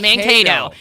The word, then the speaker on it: Mankato: That's how it's pronounced. Mankato.